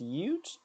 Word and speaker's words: ute: It's pronounced Ute. Oh, like a ukulele.